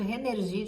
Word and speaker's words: Rénergie: Vou falar assim, tá gente? Renergie de um jeito bem abrasileirado, que é como eu escuto as meninas falarem, e em cada país tem uma pronúncia diferente, né?